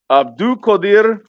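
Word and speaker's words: Abdukodir: Ab- Abdul Qadir You did it Kusanov.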